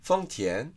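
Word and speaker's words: 豊田: 読み方も中国語ではフォンティエン、日本語のトヨタとかトヨタっていう読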